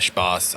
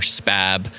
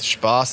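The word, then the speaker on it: Spaß: it's spa and then the german s set which looks like a b but it it's really pronounced as a double s of course it is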